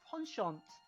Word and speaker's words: penchant: It's actually pronounced penchant.